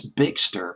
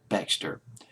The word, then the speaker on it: Bextor: I think it's Bextor, Bexter. I'll just pronounce it as Bextor.